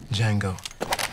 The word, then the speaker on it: Django: Django. D-J-A-N-G-O. The D is silent.